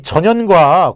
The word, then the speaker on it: 전연: 근데 그때 이민족이 세웠던 북방의 여러 개의 나라들 중에서 어떤 나라가 있었냐면은, 발음을 잘 하셔야 되는데, 전연이라는 나라가 있었어요. 전연. 자, 근데 이 전연과 고구려가 사이가 좀 안 좋았어요.